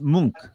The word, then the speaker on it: Munch: two passes yeah oh hold on it pronounced munk what did i say